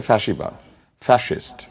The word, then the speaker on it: ফ্যাসিবাদ: ফ্যাসিবাদ শব্দ, এটার আসল উচ্চারণ হচ্ছে ফ্যাসিবাদ, ফ্যাসিস্ট, কিন্তু আমরা এটাকে ফ্যাসি বলি কারণ দন্তস্ব দিয়ে বানান করার কারণে।